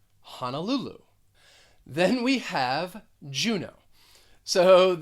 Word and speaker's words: Honolulu: uh sound hannah and the third syllable is the one that's stressed honolulu honolulu then we have juno